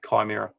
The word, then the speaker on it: Chimera: It's the Latin pronunciation should be a hard K. Yeah. So it should be Chimera.